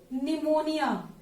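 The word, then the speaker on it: pneumonia: इसकी full form देखेंगे सभी लोग, pleuro निमोनिया like organism. PPLO की फुल फॉर्म है, निमोनिया में पी साइलेंट होती है, प्लूरो निमोनिया लाइक ऑर्गेनिज्म।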